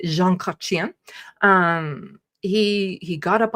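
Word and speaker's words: Jean Chrétien: Prime Minister Jean Kachian, sorry, you have to say it like that. You can't just you have to say Jean Kachian.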